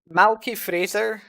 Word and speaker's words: Malky Fraser: Malky Fraser rhymes with razor.